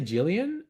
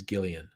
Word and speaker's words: Gillian: was it gillian anderson did i say jillian and you're saying it's gillian i thought it was i thought she pronounced it jillian i am willing to be uh corrected and it's gillian musica being laid out